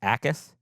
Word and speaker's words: Ikard: Gabe Ikard and that I I found out that is the pronunciation. no yak? There's no yak. Just Gabe Ikard.